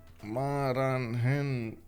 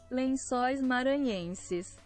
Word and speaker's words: Lençóis Maranhenses: Lensois Maranhenses. Yes. There we go. Let's see. Lençóis maranhenses.